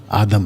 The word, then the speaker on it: आदम: उनका प्लूरल, उनका नाम आदम रखा। तो पुरुष का नाम भी आदम और स्त्री का नाम भी आदम। और आदम का सही प्रोनाउंसिएशन है आदाम।